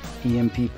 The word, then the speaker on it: EMP: ground at the hands of Asher's plus two EMP pistol that he found in the basement, I'm going to bed. It's pronounced emp.